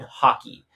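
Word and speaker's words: Haki: the devil fruit and hockey basically it's spelled ha Ki not H yeah not like not the sport um but basically the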